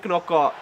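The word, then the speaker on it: Knockaert: they play it into Anthony Knockout. And he buries it into the bottom corner. And yes, that is how you say that name.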